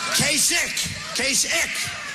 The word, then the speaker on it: Kasich: In fact, most people don't even know how to pronounce his name. Kasich. Pretend it's a K. Kasich.